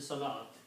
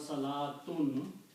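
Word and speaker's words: صلوة: way and it is written with an extra wow there which is not pronounced so this is also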